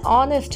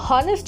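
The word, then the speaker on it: honest: এন বসাবো যেমন অ্যান অনেস্ট ম্যান an hour দেখো অনেস্ট আমরা কিন্তু কেউ হনেস্ট বলি না আমরা বলি অনেস্ট এইচ টা সাইলেন্ট থেকে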